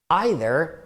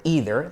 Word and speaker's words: either: Either or either, so both pronunciations are correct, or, For example, you have 2 choices.